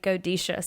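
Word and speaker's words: Godetia: used to say it g-o-d-e-t-i-a and it's actually godisha so I completely bombed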